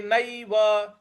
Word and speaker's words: नैव: है पूर्वाभ्यासेन तेनव ते नैव न पर ऐ की जो मात्रा है उसको ऐ बोलना है तो ते नैव तो